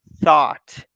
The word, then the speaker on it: thought: middle of the word so every time you have t h o u g h forget about them so go only with thought you only pronounce the